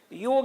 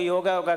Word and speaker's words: योग: थोड़ा सा मैं लोग योगा कर रहे हैं, ये प्रोनाउंसिएशन अच्छा नहीं है। इसका वास्तविक जो प्रोनाउंसिएशन है, उच्चारण है, योग है। जैसे राम को रामा नहीं बोल सकते ना, तो योग जो